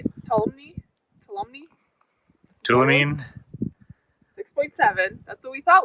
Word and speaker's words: Tuolumne: Tuolumne.